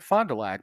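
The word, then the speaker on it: Fond du Lac: a c so three separate words and it's pronounced and just said Fondulac but for for years every once in a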